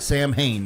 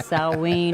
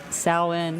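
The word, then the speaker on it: Samhain: Well, it's definitely not Sam Hain, and I was No, saying. it's not Sam Hain. It's pronounced Saween or Sawin.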